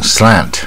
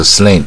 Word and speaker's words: slant: 次多译，它是大卷舌蝴蝶音 slant slant 啊，你不要念成不卷舌 slant 啊，就不对，所以这个音标差很多。